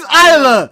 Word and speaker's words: Isla: Marcus, Isa Dawn. Is that how you say her name? It's Isla, not Isa.